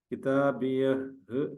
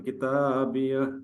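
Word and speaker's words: كِتَابِيَهْ: ഉണ്ട് ജസ്റ്റ് നീട്ടാൻ കിതാബിയ ആണ് നമ്മൾ ശരിക്കും വ്യക്തമാക്കി പറയേണ്ടതില്ല പറയാൻ ഒന്ന് ഒന്ന് ഒരുങ്ങി നിന്നാൽ മതി കിതാബിയ അങ്ങനെ വലം അത് ദാലിന്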